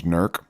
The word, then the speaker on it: Newark: The private ranch here in Newark, Ohio, that's Newark, 30 minutes east of Columbus, Ohio. When you live here, you get it down to one syllable. Newark becomes Nurk.